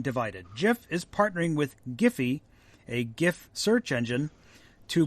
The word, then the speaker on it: GIF: interface format it said with a soft G like the peanut butter not a hard G that's according to creator